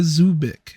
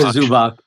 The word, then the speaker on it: Zubac: Pacers trade for center IA Zubic. Sorry again, mispronounc. Ivanka Zubac. Yeah.